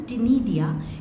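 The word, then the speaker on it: ctenidia: हैं we call them टिडिया इसमें सी silent है ये ही एक्सक्रीट एज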